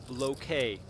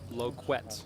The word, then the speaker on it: Loquet: Just got a comment in the chat from Yaksha saying it's pronounced Loquet, not Loquette.